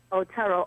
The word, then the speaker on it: Otero: Otero, right? Otero, Otero. That's right. That's how you pronounce it.